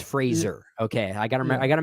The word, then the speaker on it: Fraser: I I like Brenan Frasier in the movie Fraser Fraser everyone pronounces his name wrong he corrected us all it's Fraser okay I gotta I